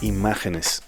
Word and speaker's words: Imágenes: for the oliibela modular imageness and i'm pronouncing it like this because this is the first module from argentina that i've ever gotten to review this one